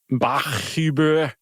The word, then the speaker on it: Bachhuber: Bachhuber. Bach, which is fine. That's clearly Bach. And Hubr. You just don't often see two H's side by side.